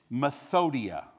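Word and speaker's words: μεθοδεία: The Greek word, let me make sure I say it right, methodia.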